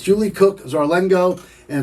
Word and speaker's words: Zarlengo: Julie Cook Zarlengo.